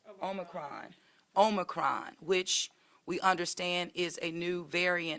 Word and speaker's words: Omicron: covet 19 and also with the impacts of omicon am i saying it right omicron omicron which we understand is a new variant and version of covet 19.